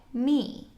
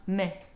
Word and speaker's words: me: If it is stressed in a sentence, you would pronounce it just as we do today, me. But if you're saying it quickly, then it becomes meh, and the E gets kind of dropped off.